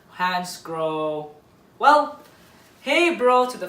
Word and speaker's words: Hansgrohe: a manufacturer that's very difficult, at least, to pronounce. Hansgrohe or Hansgrohe, Hansgrohe.